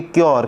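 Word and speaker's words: cure: और यहाँ पर देखिए यू का प्रोनाउंसिएशन यो भी होता है, जैसे क्योर, इसको क्यू यू मतलब CU है, इसको पढ़ेंगे क्योर।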